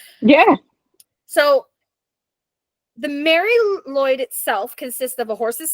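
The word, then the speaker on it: Mari Lwyd: um so it's called the Mary it's it's pronounced Mary Lloyd this doesn't look like it um it is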